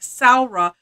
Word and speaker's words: Samhradh: please use the hashtag saura but you just have to you just have to learn how to spell it right um because it it doesn't sound like it looks so but if you